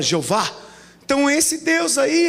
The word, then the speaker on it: Jeová: Então esse Deus não é o Elohim, não é o El Shaddai, não é o Jeová, que não se pronuncia o H, é um sopro, amém? A gente fala Jeová.